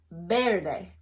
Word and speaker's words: verde: thing with green so it's Verde but it's pronounced bairdai Verde okay now yell oh sorry white is Blanco